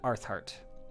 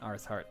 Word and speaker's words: Arthart: For anyone who does want to know, the two cities mentioned here, it's Vigorod and Arthart. Vigorod and Arthart. That's a pronunciation for them.